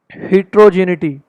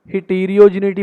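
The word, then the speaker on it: heterogeneity: तो ये रहा हमारा हिट्रोजिनिटी। हिट्रोजिनिटी अगर हम इसको हेट्रो हिटीरियोजिनिटी बोलेंगे तो हमारी करेक्ट प्रोनाउंसिएशन नहीं है, हमारे स्कोर्स के ऊपर अफेक्ट पड़ेगा, स्पीकिंग के भी और रीडिंग के भी।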